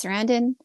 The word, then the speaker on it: Sarandon: of course it's got Chris Sarandon, right? That's how you Yeah.